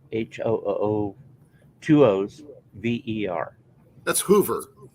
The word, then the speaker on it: Hoover: two o's v-e-r that's hoover like herbert hoover there's a street in